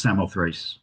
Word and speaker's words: Samothrace: And you probably are aware of one connection to the island, which is the Winged Victory of Samothraki, pronounced Samothrace usually in English, which is in the